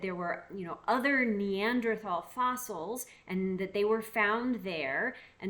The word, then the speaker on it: Neanderthal: l or t l and that H is silent was an old German word for the word Valley so it became the Neanderthal Valley now fast forward